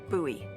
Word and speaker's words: Bowie: this huge Rusty Bowie knife what it's actually pronounced buoy what no it's like the last name like